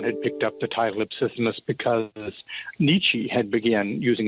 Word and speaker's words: Ipsissimus: Ipsissimus.